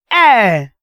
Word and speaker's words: heir: Air. We are heirs of the Father. You remember that song? We are heirs of the Father. So the word heirs, please, this H is silent. You pronounce it air.